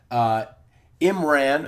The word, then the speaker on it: Imran: Imran, I think that's the way you say his name.